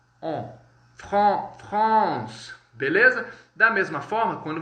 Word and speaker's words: France: Como que a gente pronuncia França no francês? Pessoal, percebam aí a grafia. F-R-A-N-C-E. Beleza? France. Então, o AN no francês, muitos alunos erram, porque eles acham que a gente vai pronunciar de forma igual ao português, que é França, né? Com o Rzinho ficaria France. Não, o AN no francês, pessoal, ele vai ter um som como se fosse o, on, France, beleza?